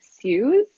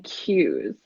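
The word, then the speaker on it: CEWS: emergency wage subsidy again two different pronunciations some people were saying sues and some people are saying cues I like to go with cues so if anyone hears cues we're talking about the wage subsidy the seventy five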